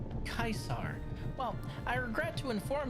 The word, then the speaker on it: Caesar: Uh, Caesar, since it's a Fallout list, it's pronounced Kaisar.